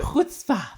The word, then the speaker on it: Chutzpah: Chutzpah Festival. Could they pronounce it right?